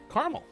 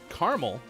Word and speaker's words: caramel: word caramel can cause some pretty sticky conversations write the offer author uh carmel while others pronounce it three syllables caramel and then there's also